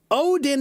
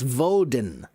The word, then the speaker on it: Odin: Odin is how we say it now. Odin was the father of Thor. Okay. So, a long time ago, they used to pronounce his name as Vodin, not as Odin.